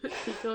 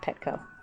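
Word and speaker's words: Pekoe: So it's Pico, not Petco. Okay, Yeah, so it's Pico. not Petco, where the pets go. That's why I have to remember it. I would say the K is in the second syllable.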